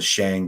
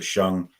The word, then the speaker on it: Shang: Shan Shan Dynasty which you guys are probably calling the Shang but it's pronounced the shung that's the dynasty that